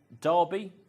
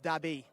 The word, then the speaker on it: Derby: onto that front running conveyor belt are you Derby deby or something else uh spoken to the actual Saudi Nationals here it's pronounced dabby so we're all wrong there so dabby is